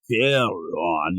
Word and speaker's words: Charon: And it was this guy, and he's like, the right pronunciation is Charon. I'm like, I don't know what you're saying, pal.